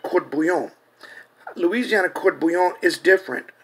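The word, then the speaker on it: court-bouillon: believe that even the Louisiana fish sauce that is mispronounced Cuvillon, after the Avoyelles family, Creole family surname, was a gift of the Indians. The French call it court bouillon.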